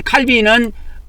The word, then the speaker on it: 칼빈: 개신교가 칼빈주의하고 알미니안주의로 크게 나눠지는데, 이 칼빈은 프랑스 사람이고 알미니안은 독일 사람이에요. 칼빈이나 알미니안은 영어식 발음을 중심으로 해서 발음을 한 겁니다.